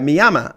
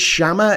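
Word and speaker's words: llamo: Spanish you say uh myama as in it's Double L which is pronounced like a y so Miama gam this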